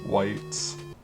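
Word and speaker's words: wight: Here's a specter, and he's animating whites.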